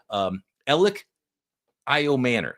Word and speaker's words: Elic Ayomanor: But Elic Ayomanor is the proper way to pronounce the 6'2" wide receiver out of the University of Stanford.